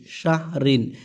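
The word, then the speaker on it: شهر: সিনহা জবর শাহ রদ্রিন শাহরিন এই জায়গায় যেহেতু আয়াত শেষ আমরা থেমে যাব অকফ হবে অকফের কারণে কি হবে শাহ শাহর এরকম উচ্চারণ মানে র উচ্চারণটা যেন আসে কারণ র তো শেষ হরফ আয়াতের তাই না এই র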